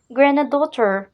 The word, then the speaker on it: granddaughter: Grandchildren, granddaughter, ne prononce pas D au centre.